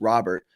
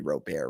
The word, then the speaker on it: Robert: uh chicago white sox louis robert i think that's not how you pronounce it's got to be rope air right uh lewis robert over